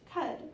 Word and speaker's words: Keds: If you were in Chicago, Detroit, or Buffalo, then the word is pronounced cud, or in Birmingham or Toulouse, the pronunciation shifts to kid or key.